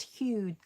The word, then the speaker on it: Huw: drawing Hugh Richards and it's Hugh Hu W. Very different way of spelling it. I've never seen it spelled like that. Hugh. I thought it was also I thought it was always H U G H like Hugh Grant.